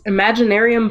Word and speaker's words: Imaginaerum: It is Imaginaerum. Did I pronounce that right? Yes, Imaginaerum by Nightwish.